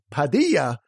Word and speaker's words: Padilla: vanilla Bobby Bonilla exactly I said Padilla rhymes with Bonilla my client now sat